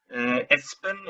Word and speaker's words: Elspen: So I guess I would have to rough and hope for to What is the correct pronunciation of your partner's name? Elspen is his first name, and Lindqvist.